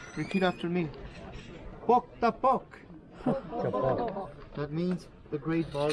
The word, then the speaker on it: Pok ta Pok: The name of the game is pronounced with a P, and you say, repeat after me, Pok ta pok.